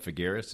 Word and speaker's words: Figueres: And you stayed with that club, Figueres, is that the way it's pronounced?